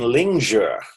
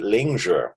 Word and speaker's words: Lingzhi: in northern China, and they use the pronunciation Lingzhi. You'll always hear them always pronounce it Lingzhi. So I've been trying to change my pronunciation to be more in alignment with the way the chairman pronounces it.